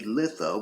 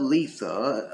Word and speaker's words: Litha: be entirely incorrect but Letha uh where it's pronounced more like you have two e in there as opposed to the I is generally considered the